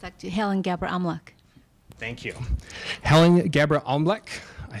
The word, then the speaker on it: Bebre-Amlak: Bebre-Amlak. One more time. It's actually Helen Bebre-Amlak. Thank you. Helen Bebre-Amlak, I still butchered it.